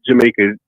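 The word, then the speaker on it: Jamayka: is it Jamaica rights but her name is spelled j a m a y k a like Jamaica like that not like the island but um well anyway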